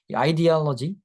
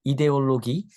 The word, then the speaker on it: ideology: 아이디올로지, 이데올로기, 어, 우리 사회 시간에는 여러분 이데올로기라고 배울 텐데, 그죠? 자, 영어 발음으로는 아이디올로지 이렇게 합니다.